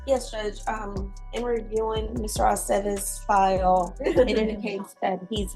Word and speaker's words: Aceves: It's always ve. Ve, Aceves.